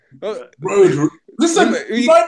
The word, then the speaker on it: Rhodri: Did I pronounce it right? Rhodri. Rhodri.